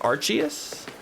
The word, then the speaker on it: Arceus: game wait am I am I pronouncing Arceus wrong Arceus it's pronounced Arceus are richius arquinius all